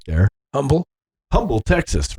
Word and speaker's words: Humble: And I was like, well, if the H is silent in Humble, why isn't it silent in Houston?